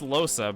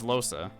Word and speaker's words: Lohse: I I think it's pronounced Loa because every literally everybody says Losa.